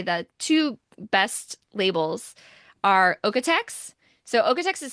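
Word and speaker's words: OEKO-TEX: I will say the two best labels are okex so okex is spelled a little bit weird because it's German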